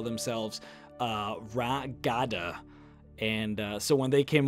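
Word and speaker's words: Ra Gada: of issues calling them Ragada, so they just call it Red Guards, I guess. It's like a mispronunciation of their original name.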